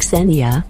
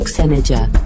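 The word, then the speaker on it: Ksenija: It's pronounced Xenia, not Xenija. K-S-E-N-I-J-A. Xenija.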